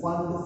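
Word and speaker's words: Pfund: Fifth one is fund series. P is silent here.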